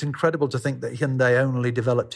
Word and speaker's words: Hyundai: most people would say hyundai and i've heard hyundai what is the right pronunciation because obviously it's a korean word the korean pronunciation is hyundai sunday it has a good